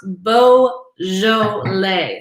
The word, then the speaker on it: Beaujolais: sessions with the sommelier it is pronounced bo joe lay so um say it